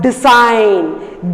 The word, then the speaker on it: design: The 7th one, design. G is silent there.